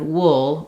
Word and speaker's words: wool: has the uh sound so pull with u l l and Wool with ool have the same pronunciation unlike most words that